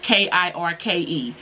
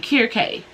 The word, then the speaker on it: Kirke: But when I looked it up, they pronounced it Kirke. So Kirke, Kirke. That's how you say it.